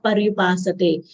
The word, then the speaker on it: पर्युपासते: Paryu, u is a short sound. We should not elongate it. Paryupasate.